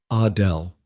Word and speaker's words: Adele: She pronounced it the French way. Adele.